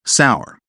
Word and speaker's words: CSOWR: I call this the currency strength or weakness ratio, or CSOWR, which I pronounce sour.